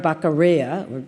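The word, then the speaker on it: Beccaria: 1766 a man named Cesar cesari bakara depending on which language you pronounce it in uh wrote a book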